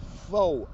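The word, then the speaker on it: faux: huh nah this is that foe advocacy you understand what i'm saying that's spelled f-a-u-x vote advocacy that's so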